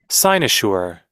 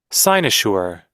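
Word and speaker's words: cynosure: once again sinosure this one sure not sure Sure. Signsure. Sure. Sure. It's like in in in she, right? Sure. In she. Okay. Sinosure.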